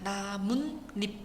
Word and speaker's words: 나뭇잎: 뒷말의 첫 소리 모음 앞에서 니은니은 소리가 덧날 때 자 나뭇잎. 자 니은 니은으로 소리가 납니다. 나문잎 이렇게요. 자 그래 가지고 요런 케이스는 우리가 사이옷을 적는다.